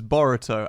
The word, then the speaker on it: Boruto: the Mexican food I well actually no it's more spelled like Dorito but with a B ah oh okay Gara Naruto's son is burrito and Kakashi no oh sorry Naruto's son is boruto and Kakashi calls him